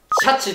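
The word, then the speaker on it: 鯱: 年なんで魚へんに虎と書いてなんと読むでしょうか違いますじゃあウツボだ正解はシャチでしたちなみに豆知識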